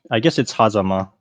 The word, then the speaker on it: Hazama: Is it Hazama or Hazama? So I guess it's Hazama, just because Okay, it's the Japanese sure. name, and you put like emphasis on every like Right, I guess kind of syllable there, evenly.